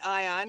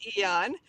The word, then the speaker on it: Aeon: Some people say Ion because it's Aeon, but the proper pronunciation I found out is Aeon.